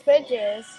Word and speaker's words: Feges: Fegs. So, we are at Feges Barbecue. Feges? Feges? I think Feges Barbecue. She told us the name, but... It's Feges.